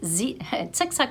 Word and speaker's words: Zick-Zack: And if you want something really simple to knit, if I could recommend the Zick-Zack pattern, it's Zick-Zack is spelled Z-I-C-K, Z-I-C-K, Z-A-C-K, Zick-Zack.